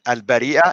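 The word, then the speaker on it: البريئة: In order for you to read it, al-Bariya versus al-Bari'a. That was very simple. I mean, without it, you won't be able to pronounce it correctly. And notice, when you pronounce it correctly, now you know the meaning of the word. Al-Bari'a, innocent, al-Bariya, creatures. Big difference.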